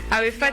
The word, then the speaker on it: AEPHAT: Arifat, ça s'écrit A-E-P-H-A-T.